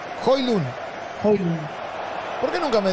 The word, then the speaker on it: Højlund: Toca para Højlund. ¿Cómo se pronuncia bien? Højlund. Højlund.